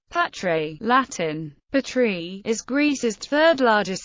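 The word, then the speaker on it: Πάτρα: Patras, Greek pronunciation, Patre, Latin, Patri, is Greece's third-largest city and the regional capital of western Greece, in northern Peloponnese, 215 kilometers west of Athens.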